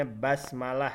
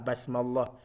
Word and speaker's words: basmalah: Jadi dibacanya basmalah ya. Jangan ada pula yang membaca seperti menggunakan lafaz jalalah basmallah. Salah. Jadi basmalah sama dengan hamdalah. Bismillahirrahmanirrahim, dengan nama Allah yang Maha Pengasih lagi Maha Penyayang.